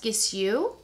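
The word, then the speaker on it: Gisou: bought this is from i think it's pronounced kiss you and it's a honey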